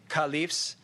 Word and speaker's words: caliph: rightly guided caliphs okay we say car leaves it comes from the arabic word khalif okay which means someone